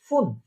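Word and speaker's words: fünf: তারপরে হচ্ছে ফুন, ফুন, খেয়াল করেন এখানে একটা উমলাউট আছে। আমরা ফার্স্ট ক্লাসে দেখেছিলাম যে উমলাউট থাকলে ঠোঁটটা একদম গোল হয়ে যাবে সম্পূর্ণ।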